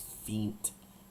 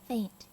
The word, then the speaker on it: feint: I've always heard it as feint in D&D. Faint. Alright, well, it's feint then. Okay, so feint and faint. Faint. Have different spellings, but the same pronunciation, so that's fine.